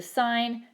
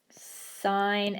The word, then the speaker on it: sine: actually short form for sine si and E which is why it's pronounced as sine and not sin Coast is short for